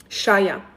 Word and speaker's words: Shaya: Shaya is how you pronounce my first name.